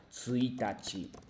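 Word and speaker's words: 一日: La pronunciación de la, bueno, cómo llamar días son diferentes, no es ichinichi, sino tsuitachi, futsuka.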